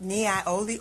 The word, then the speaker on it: Niaouli: asked for tea tree, you can switch up Niaoli oil, and that is spelled Niaouli.